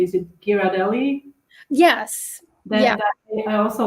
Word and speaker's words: Ghirardelli: You can also, actually, in the grocery store they often have, um, I hope I'm going to pronounce it correctly. Is it Ghirardelli?